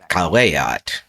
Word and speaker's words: caveat: So the word caveat is actually caveat.